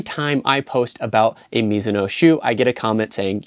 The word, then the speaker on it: Mizuno: I post about a miso shoe I get a comment saying you're saying the brand name wrong and that it's Mizuno just a friendly reminder that this is actually a Japanese brand and although the brand